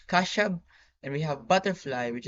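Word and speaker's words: خشب: We have wood, which is pronounced Kashab.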